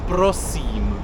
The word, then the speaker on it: prosím: It's prosím.